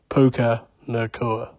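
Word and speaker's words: Puka Nacua: Puka nakua. Yeah, we're getting there. Puka nakua. Okay. Puka nakua. Puka nakua. Puka nakua. Puka nakua. Puka naka. 30 seconds. Puka nakua.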